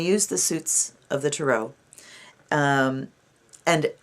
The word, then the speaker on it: tarot: of the tarot and you'll notice that i say tarot a lot of people say tarot the reason i say tarot is because it's french and they put the emphasis on the last syllable so anyway there's a